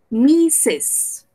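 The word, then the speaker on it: Mrs.: caso de misses wolf que lo escribimos mrc lo vamos a pronunciar misses misses y así entonces tenemos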